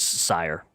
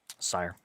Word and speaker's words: Syhr: Pretty much sire like like sire like like if you're being like very regal and proper like for you sire pretty much that's how it's pronounced.